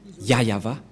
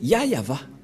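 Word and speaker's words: YAHYAHVAH: et donc c'est bien la vraie prononciation de son nom yayava voilà le ya et voilà la suite après y yava voilà et vous voyez bien que c'est bien son nom d'invocation qui est yayava donc voilà le nom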